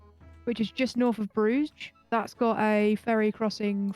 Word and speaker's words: Bruges: could actually be a how do you spell that BR you GES I mean takes place in that place I should say listen to Colin Farrell Sai in in Bruges as we all know they say in the movie that's how to say it yeah it's actually really